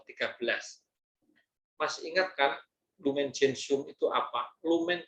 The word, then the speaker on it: Gentium: Mas ingat kan Lumen Gentium itu apa? Lumen Gentium itu, bacanya Gentium, bukan Gentium.